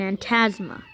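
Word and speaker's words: Antasma: let's go to Bowser and aunt asthma and yes that's how you pronounce it Bowser and aunt asthma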